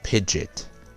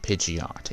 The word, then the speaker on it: Pidgeot: Pidgey, Pidgeotto, Pidgeot. It's not Pidgeot, it's Pidgeot.